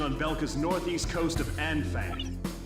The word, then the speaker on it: Anfang: We've received a report that remaining Belkan troops are converging on Belka's northeast coast of Anfang. It's pronounced on.